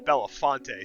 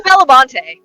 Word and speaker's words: Belamonte: I have the name on the map as Belamonte, and in my notes Yeah. it's Belafonte. So now I don't know what's I real love anymore. It's Belamonte. We were the ones who were mispronouncing it, and then you We're